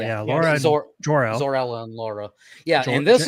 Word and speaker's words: Zor-El: Zor-El. Birth parents, Bradley Cooper, Jor-El, and I can never remember his. I think his mom's name's Laura. Laura L. Yeah, Laura and Jor-El. Zor-El and Laura.